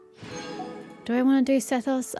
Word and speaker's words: Sethos: I want to do sethos I know they pronounce it seos but whatever um no